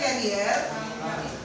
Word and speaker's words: carrier: iya perhatikan wanita kalirna carrier ya bacanya kerier xhx H kecil ini